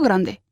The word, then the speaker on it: grande: Con grande en femenino. Vale, que Vale. es grande. Grande. Muy bien, la D se pronuncia.